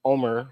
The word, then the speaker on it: Omer: Well, my first name is Omer, which is actually pronounced Omer, right? Because it's a Spanish name.